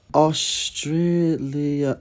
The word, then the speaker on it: Australia: The word Australia contains three A's and they're all pronounced differently. Australia.